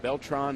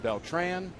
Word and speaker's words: Beltran: Just like Beltran and Beltran, they're both correct.